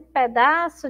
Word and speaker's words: pedaço: Comer um pedaço de jenipapo. Ó, pedaço. Também aí, terminando aí essa sílaba com som de U.